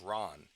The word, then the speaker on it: Ran: I mean, I've even heard like the planet Thanagar Ran be pronounced Ron. Ron.